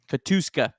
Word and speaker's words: Katuska: Katuska. Yeah, that's how you say it.